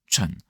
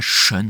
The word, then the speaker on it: Tsun: Autant pour le la 2e partie tun, c'est beaucoup plus juste euh d'écrire tun t s u n parce que c'est euh c'est une meilleure moi manière de transcrire le la manière dont ça se prononce wing tu vois c'est pas shun c'est pas wing shun tu vois ch comme chat tu vois donc c'est